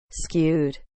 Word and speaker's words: skewed: it it it sucks say scoo again scoo wait is that the wrong pronunciation let me check skewed oh skewed skewed not skewed skewed skewed kind like cute but skewed H so this is